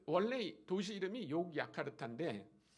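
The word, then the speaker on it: Yogyakarta: 보이시나요 욕야카르타 도시 근데 그 원래 도시 이름이 욕야카르타 아 네덜란드 사람들이이 스펠링을 가르쳐 준 거예요 근데 아마 네덜란드 사람들은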